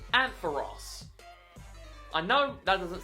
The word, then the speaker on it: Ampharos: But think of the character from Friends, Ross. That's what you need to think of when to pronounce this name, Ampharos.